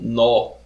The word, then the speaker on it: nodo: tipo tá é o nó a gente escreve nodo mas a pronúncia é nó tá o nó ele